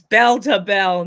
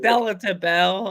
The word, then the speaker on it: Bell to Bell: She was like, "Bella, Joe, it's Bell to Bell, not Bella to Bell." I was like, "Oh, it sounds the way it's spelled. It looks like Bella to Bells."